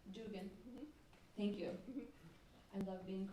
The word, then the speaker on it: Duggan: In case you don't know who Lisa Duggan is, Dugan. Professor of Social and Cultural The Irish Analysis. pronunciation, Dugan. Dugan.